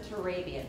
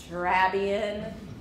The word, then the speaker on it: Turabian: never even heard of turabian in fact they'll come in and mispronounce it drabian can you help me